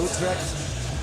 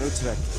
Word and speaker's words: Utrecht: And I don't know if I'm even saying Utrecht right. That's a G, but that hard G is tough for you. Utrecht. Utrecht.